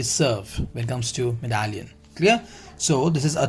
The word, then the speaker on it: médaillon: So the next, the pronunciation of this is Médaillon, right? It's not me, it's Médaillon. Médaillon. You can say Médaillon.